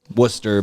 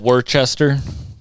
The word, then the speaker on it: Worcester: You're going to hear Boston terminology because a lot of people are from Worcester, Boston. You can hear I say Worcester.